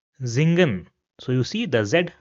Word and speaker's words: singen: So for example we have this word over here and it will not be pronounced as singen rather it will be pronounced as zingen zingen.